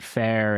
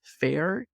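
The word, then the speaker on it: Fayr: these days you've got the word that may be phonetically you can recognize Fair spelled in a way that no one can really pronounce or it's harder to pick can you spell it for me it's f-a-y-r it was a plan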